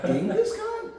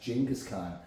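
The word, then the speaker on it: Genghis Khan: people no it's jingus Khan I'm like wait gingas Khan so the whole time gingas Khan gask Khan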